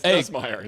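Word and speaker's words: Nussmeier: Yes, Nusmeer.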